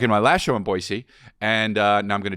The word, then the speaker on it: Boise: I'm gonna be in Boise and that's how you say it and whoever told me that was Aaron Paul Aaron Paul told me he's from there it's Boise so he would know he came to my